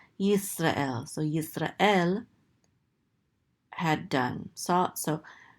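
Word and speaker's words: ישראל: And this is an aleph with a tzere, this is and this lamed closes out the syllable to say el. Yisrael.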